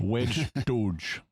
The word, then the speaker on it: wej Duj: wej Duj. Duj. Yeah. Okay. The D, the emphatic D, is like the English D, but you pull your tongue farther back in your throat. Okay. Or in your mouth.